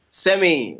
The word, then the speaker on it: Semi: Semi. It's pronounced semi.